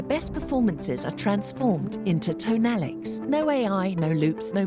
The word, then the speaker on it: Tonalic: É tonalic, a pronúncia correta. Eu tô falando tonalic, mas é tonalic.